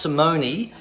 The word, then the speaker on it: Simone: It's pronounced Simone. I'll just pick up my thingy bob here. Turn this down. Okay, so it's pronounced Simone, but it's Simone Jardim.